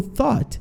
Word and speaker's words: thought: Então, o thought, ele tem esse TH que você coloca a língua entre os dentes, assim, e dá só uma soprada, um sonzinho de T meio que com F junto.